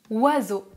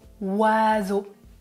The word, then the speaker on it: oiseau: O, est-ce que vous prononcez le O dans le mot oiseau? Non, on n'entend pas le O. Est-ce que vous prononcez le son I? Non, mais O plus I, c'est une combinaison et on prononce WA.